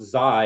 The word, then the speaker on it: XAI: I thought it was just, which again, it's pronounced Zai. It's like a gaming token.